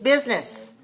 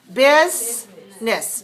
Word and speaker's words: business: you remember that okay in the in the writing of this word it looks like three but in the speaking how do we say it biz nis just two business where's the stress first